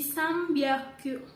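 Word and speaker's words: 三百: Tapi kalau jika berubah jadi M, jika mengikuti huruf B, P, M, itu jadi beda gitu ya teman-teman bacanya. Cara baca jadi pakai Misalkan di sini contohnya tadi Sambyaku, tapi dibaca jadi Sambyaku, gitu kan teman-teman.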